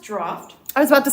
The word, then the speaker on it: Draught: And it's pronounced Draught. I was about to not say, draft.